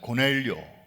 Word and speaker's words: 고넬료: 다루고 있기 때문입니다 자 고넬료 영어 식으로 발음하면 코로 넬리 웃으라고 하는 그런 분의 이름이 오늘